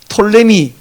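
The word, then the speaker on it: Ptolemy: 그 이게 이름이 너무 기니까 발음하다가 포톨레오스를 줄여 갖고 포톨레미 이렇게도 발음을 하는데 이게 영미권으로 넘어가면서 앞에 푸가 날아가 버렸어요. 톨레미.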